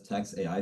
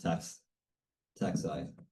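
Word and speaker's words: TaxAI: Although this is tax A, you could read it as tax AI if you want, but it's officially pronounced tax I.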